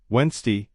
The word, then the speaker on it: Wednesday: The D is silent. It's pronounced Wednesday 8K.